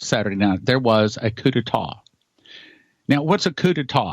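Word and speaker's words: coup d'état: And I'm saying tonight that Saturday, 6/6/2020, the anniversary of D-Day, was the first coup d'etat, to say it correctly, in America.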